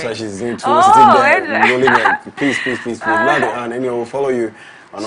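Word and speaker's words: L'Art D'Anne: So latte, but it's la, like in French, yes. And then D, because but in French it's like the, and then with the, D, exactly. And then Anne, A-N-N-E. So it's L-A-R-T _D_A_N-N-E. Latte Anne.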